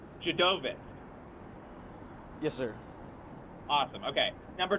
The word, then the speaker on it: Dziadowicz: that correctly yeah so my last name is pronounced a lot of them call me so that's one thing I would have known right dude of it yes sir awesome okay